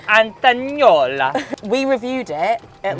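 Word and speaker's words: Antognolla: Antagnola. You've got to do it in an Italian accent. Antagnola.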